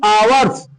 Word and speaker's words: hours: ध्यान दीजिए, इसका उच्चारण होता है हावर नहीं आवर्स। क्या होगा आवर्स, यहाँ एच समझिए साइलेंट है, एच वो यूवर्स, हावर्स नहीं आवर्स।